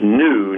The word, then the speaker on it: gnu: the animal spell GNU is pronounced new not g I was wondering why